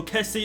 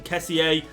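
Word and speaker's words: Kessié: But yeah, Benasser, Salesmakers, also Kessie. Obviously you could pronounce him Kessier. But I think we'll just call it as Kessie.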